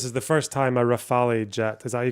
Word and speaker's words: Rafale: Raphael. Is that how you pronounce it? Rafal. Rafal. Raphael. Oh, you. Hang on. But it'd be fine in English to say Rafal. Rafal from French.